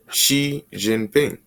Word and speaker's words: Xi Jinping: we have into it let's hear this xi xi jinping okay so it's as easy as that no you know how to pronounce the name all right this has uh